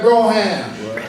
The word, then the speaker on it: Brougham: John Fakir, he had a Broham. Yeah, even though it's probably pronounced Brougham, but we say Broham.